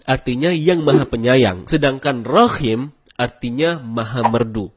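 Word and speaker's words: رحيم: Rahim artinya yang maha penyayang. Sedangkan Rahim artinya maha merdu. Bacaan yang benarnya insya Allah dengan huruf H. H dalam tenggorokan. Jadinya Rahim, bukan Rahim.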